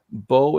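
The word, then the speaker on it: Beau: Bo is spelled B-E-A-U, just like yourself, Bo.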